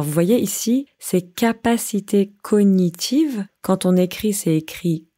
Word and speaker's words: cognitive: Alors vous voyez ici, ces capacités cognitives, quand on écrit, c'est écrit cognitive, mais quand on parle, on ne prononce pas le G.